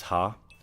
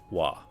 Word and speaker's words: は: In that case, it's pronounced wa, like W-A. Yeah, good comment, Okamijin. Ha is normally ha, but becomes wa when it's used as a particle.